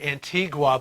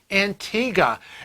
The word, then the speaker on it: Antigua: it was antiques i know people always say antigua but they say it's pronounced antigua and you know what god i know and